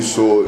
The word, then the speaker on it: Tsoule: A lot of people tend to use different, because of the way the name is spelled, Tsoule, the T is silent, you know, and who is Tsoule in the 2018?